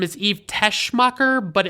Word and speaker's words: Teschmacher: And the credits say that her name is Eve Teschmacher, but it sounds like they're saying Tessmacher without the H sound in it.